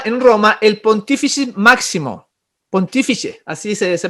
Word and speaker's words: Pontífice: Al emperador se le llamaba en Roma el Pontífice Máximo, Pontífice, así se pronuncia, y que se arrojó el Papa ese